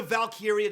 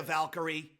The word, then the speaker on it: Lyra Valkyria: Just change the Valkyria to Valkyrie. No, Even because if it's she's Lyra known- Valkyrie. She's known from NXT as Valkyria.